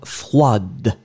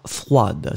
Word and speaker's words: froide: pronounced, froid, and then feminine form, because you add this you will pronounce the d in the end. So masculine form froid, feminine form froide. Froid, froide.